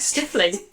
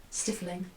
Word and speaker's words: stifling: is that yeah yeah I was pronouncing it like stiffly I don't know what makes sense though yeah I was like I don't know maybe they were getting a bit like stiff I don't know yeah but no it is like stifling oh there were just